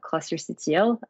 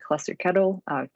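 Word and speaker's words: clusterctl: that management cluster management it's called cluster ctl or cluster kettle uh pick your pronunciation but uh and we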